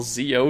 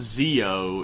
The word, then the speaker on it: Zi-O: It's not Zi-O, it's Zi-O. Zi-O. Oh, so that's how you pronounce a Z. Yeah, it's you pronounce it like G. It's like between a J and a Z. It's a weird Japanese thing.